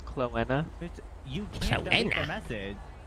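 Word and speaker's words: Chloena: It's Cloenna. You can't leave a message. Indeed. How do you spell that?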